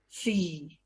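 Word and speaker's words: SEE: sports every event or s-e-e we pronounce c which is one of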